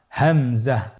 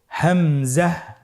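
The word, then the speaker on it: همزة: পরবর্তী হরফটির নাম হলো হামজা। পরবর্তী হরফটির নাম হামজা। হামজা হরফটি উচ্চারণের ক্ষেত্রে বারিক করে উচ্চারণ করতে হবে এবং এখানে টেনে পড়া যাবে না। দ্রুত পড়তে হবে। আপনারা আমার সাথে বলুন হামজা হামজাহ হামজা হরফটি উচ্চারণের স্থান হা এর মতই।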